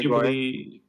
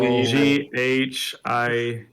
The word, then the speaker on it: Ghibli: Otherwise, I've watched for the very first time Jack, like how's your colony Ghibli...